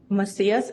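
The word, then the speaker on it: Macias: Ma'am, could you please state your name for the record and spell it? mas masias m a c i a s.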